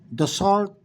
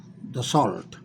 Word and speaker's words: Dassault: The luxurious Dassault, I don't speak French, I figure out it must be pronounced Dassault.